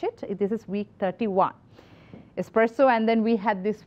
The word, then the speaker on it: espresso: It's not. Espresso, it is espresso.